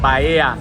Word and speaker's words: Bahia: pronunciation right now. Bahia, Yeah.